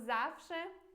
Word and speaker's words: zawsze: tipo que, por exemplo, que esse W se pronuncia como V em português, ou que esse Z é X, então é como se fosse X, por exemplo, em português, vai lá e assista